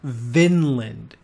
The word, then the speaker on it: Vinland: We're talking about Vinland.